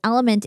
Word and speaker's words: LMNT: to clarify is that element is spelled lmnt it's really cool El I meant so drink